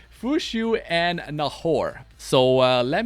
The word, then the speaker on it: Fuqiu: So, we got Fushu and you don't want to mess up her name, right, when you pronounce her name. Fushu and Nahor.